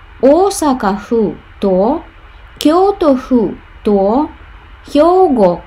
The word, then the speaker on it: 府: Дальше с Осака и с Кёто будет ху. Вот это вот ху, да? Вместо кен.